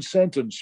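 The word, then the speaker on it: Sentance: Sentence, yeah, just like, as in sentence, but only with an A instead of an E, Sentence, yeah.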